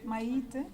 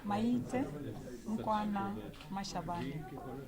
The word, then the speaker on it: Maite Nkoana-Mashabane: Sorry, Minister, before you go, can I get the correct pronunciation of your name? Maite. Hold it, I want to record it if you don't mind. Okay. So you don't get it wrong. Okay. Maite Nkoana-Mashabane.